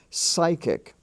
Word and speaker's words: psychic: scholar and of course s is also spelled as P.S in such words as psychic and psyche those two words are